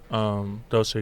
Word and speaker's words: Dolce: Dolce & Gabbana Jujutsu Kaisen collaboration. Probably. Dolce. I would assume. Dolce, it's DOLCE. DOLCHE.